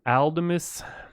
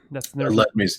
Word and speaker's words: Aledmys: Aldemus? Aledmys Diaz.